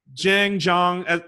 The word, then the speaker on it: Jahng: I'm like, my name's not Yang. I was like, oh, I'm sorry. In Europe, it's J is pronounced Y. I'm like, do I look European to you? But Jahng, as long as you're